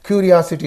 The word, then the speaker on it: curiosity: And curiosity is there. Syllable suffix is in these two. So the syllable preceding the suffix means O. Curiosity. Curiosity. Don't say curiosity.